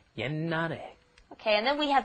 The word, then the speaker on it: 옛날에: You see that sh at the bottom there, you're thinking, 옛날에. No, that's not how it's pronounced. A lot of the time when the 받침's come up against another consonant, then they will be kind of swallowed, held back, glottalized. It's called, so what you're doing is you're just pronouncing an N, 옛날에.